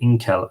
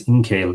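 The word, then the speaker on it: Ingcél: of ink l and I think I was pronouncing it in Cal and now it's in kale yeah he didn't and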